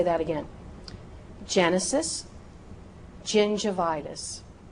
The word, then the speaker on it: gingivitis: If that word begins with the letter G and is followed by the vowels E, I, or Y. E, I, Y. Use that J sound. Use that soft G sound.